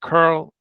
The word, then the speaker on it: curl: I I yeah I I wanted to actually have it as an English pronounceable word so that's why I that's one of the reasons I went with Carl so I want to pronounce it as the English word curl okay okay and but